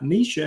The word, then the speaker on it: Neisha: And also my wife, Nisha, has Ketovore videos on her channel as well. Her name is spelled Neisha.